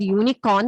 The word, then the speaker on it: unicorn: So while we pronounce the word unicorn, it has a sound of Y.